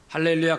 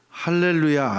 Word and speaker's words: 할렐루야: 세상에서 가장 아름다운 말은 할렐루야 아멘입니다. 예, 너무 쉽죠? 원래 할렐루야는 어떤 분은 할렐루야 할렐루야 뭐 이렇게 하는데, 할렐루야 이렇게 하는 게 발음이 맞아요. 한번 따라서 하겠습니다.